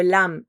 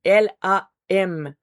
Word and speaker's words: lam: L A M lam, c'est un A qui va un peu se transformer. Donc on commence avec le L devient un peu un lume sur de l'hume en refermant la bouche.